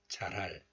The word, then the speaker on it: 잘할: So 잘할 becomes 잘할. But also you can still hear a little bit of 히 sound, H sound when you pronounce this letter. 잘할, 잘할. So the 히 weakens after the consonant li을.